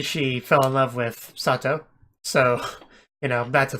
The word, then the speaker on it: Sato: So, apparently, one thing I always thought was kind of weird is how his name was written as Sato, but it was kind of being pronounced as Satu.